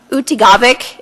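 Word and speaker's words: Utqiaġvik: Utigavik is how you say barrow now, just so you know.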